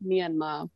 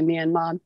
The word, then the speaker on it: Myanmar: would say okay so in burmese it's more like myanmar but yeah you hear people especially like in america say me and mom myanmar lots of different